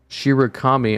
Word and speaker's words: Shirakami: It's spelled colonel, but it's pronounced Colonel. Or, fuck, I don't know. There's a lot. Her name is Shirakami? Oh. Shirakami.